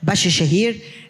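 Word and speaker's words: Bahçeşehir: which is in Istanbul that's how we pronounce it Bashi Shaher and this in university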